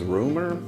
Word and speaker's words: RMR: country about five is it's spelled rmr but his name's rumor um he did are